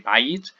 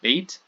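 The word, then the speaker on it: בית: It takes too long for the speaker to say bayit, and we want to get to the accent on the next word, so it just becomes beit.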